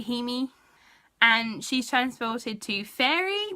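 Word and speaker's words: Jaime: I'm pretty sure it's spelt Jamie, but in the audiobook they say Hemi.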